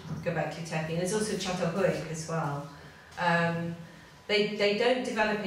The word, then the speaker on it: Çatalhöyük: You spell it C, it's a soft C because it's Turkish.